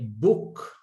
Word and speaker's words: book: De igual forma, cuando se juntan dos O's, ¿ok? suena como U, como en el caso de book, libro. Se lee book, se escribe con dos O's, B-O-O-K.